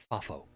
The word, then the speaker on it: FAFO: that's that's an acronym because you can pronounce it fafo f-a-f-o freak around and find